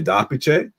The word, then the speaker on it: d'Apice: It's sort of a very like Anglo-Australian pronunciation of an Italian surname. So if we were to pronounce it correctly, if we were in Italy and you saw a name spelled this way, you'd say Darpice.